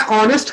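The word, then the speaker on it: honest: जैसे मैं ऑनेस्ट की अगर बात करूं तो वो हॉनेस्ट होता है कि ऑनेस्ट होता है? सर ऑनेस्ट. ऑनेस्ट. तो इसको हम लोग ओ से साउंड करते हैं और एच को क्या करते हैं, साइलेंट रखते हैं.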